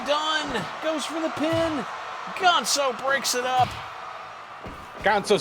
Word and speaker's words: Ganso: And I'm pronouncing it that way because he's supposed to be a goose luchador. So it's not Gonzo, it's Ganso.